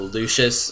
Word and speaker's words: Lucius: Yeah, I pronounce it Lucius, because I feel like the C is pronounced as like a S-H. Like Lucius. Like, when it's in the middle like that.